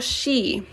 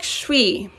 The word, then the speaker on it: 쉬: Is it pronounced shwi or she? More like shwi. Yeah, 쉬워요. Yeah. She by itself is just like this. So by adding the u, it becomes 쉬.